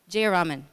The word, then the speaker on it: Jayaraman: Jayaraman.